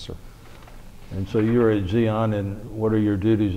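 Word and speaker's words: Di An: now base camp with Xeon it's spelled d-i-a-n but in Vietnamese it's pronounced Zeon which was about 50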